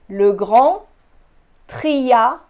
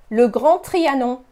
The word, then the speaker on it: Grand Trianon: you have probably visited Le Grand Trianon. Notice how the French don't pronounce the D at the end of grand, so it's not grand, it's grand. No D. Le Grand Trianon. Le Grand Trianon.